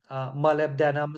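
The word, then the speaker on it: molybdenum: as Chrome MB denim steel that's how they pronounce that word malib denim steel and uh that type of Steel is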